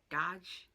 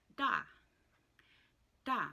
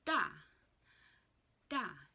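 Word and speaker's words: daj: this but yellow and yellow is da da not or dodge it's da da remember the last consonant is silent it is just a tonal marker so da da and that is yellow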